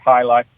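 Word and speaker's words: jai alai: what it is or how to say it but it's j AI a AI pronounced high life I went to UNLV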